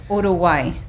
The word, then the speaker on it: Uruguay: Daughters are calling me Uruguay or again pronounce it Uroay.